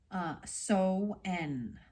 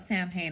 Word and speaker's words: Samhain: The ancient Celts used to call the time of the longest night of the year So-en, or Samhain. I always call it Samhain. I would say it wrong.